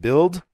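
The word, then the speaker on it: Bild: the best-selling German newspaper I believe it's pronounced build he authored a barn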